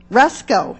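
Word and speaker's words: Rusco: How do you pronounce it? Rusko, excellent.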